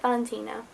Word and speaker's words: Valentina: And then there's the character of Valentina, that's how you say it, Valentina.